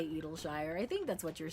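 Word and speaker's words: Idyllshire: Clown said that's the correct way to say it. It's Edleshire. Edleshire.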